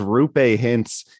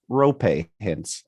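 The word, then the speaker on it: Roope Hintz: said his name is rupe hintz his name is not rupe hints though that is a common belief it is actually pronounced rope hints as in rhymes with copay it's uh i'm going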